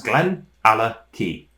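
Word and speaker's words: Glenallachie: glenorchy Speyside single malt that's Glen ala T and that's pronunciation guide there it's often of which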